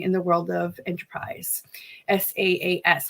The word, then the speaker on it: SaaS: SaaS. How do you say that, Grace? SaaS, software as a service.